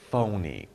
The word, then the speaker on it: phony: not real it's fake it's not real it's phony it's not real pH is is pronounced as F phony okay so it's phony not real or it's